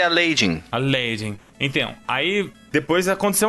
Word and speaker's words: Aladdin: A pronúncia certa é Aladdin.